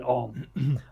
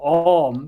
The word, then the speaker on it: Om: And so, and the U, so the Hindu, there's actually three syllable or three sounds in Om. A lot of people just go Om, but it's actually Om.